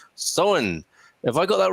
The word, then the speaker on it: Samhain: Don saying Samhain Gaelic Festival pronounced Samhain.